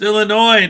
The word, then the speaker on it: Illinois: Like, it's so annoying to people from Illinois when people that are not from Illinois pronounce the S. It's Illinois, not Illinois.